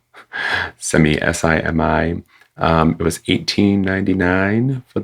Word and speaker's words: Simi: I mean, I wouldn't pronounce it any other way, would you? Simi, Simi, S-I-M-I.